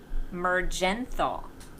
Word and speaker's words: Mergenthal: Mergenthal. Ooh. Mergenthal. And you know why? I like that because there's if a G is next to an E, it's supposed to be a soft G in English.